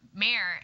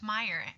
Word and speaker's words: Mayer: to my roommate, and I said Mayer, and she goes, "Oh, you mean Mitch Meyer?" And so I definitely understand the mispronunciation of that name.